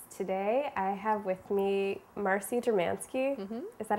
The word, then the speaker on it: Marcy Dermansky: cooking the books today i have with me marcie dramansky is that how okay we're off to a